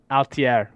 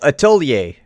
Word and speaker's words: atelier: Altier. It's French. I don't know how to pronounce it. Oh, atelier. Atelier.